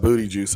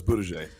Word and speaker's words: Buttigieg: Talking about booty juice on TV. Come on, you hired the guy for the job. It's Buttigieg.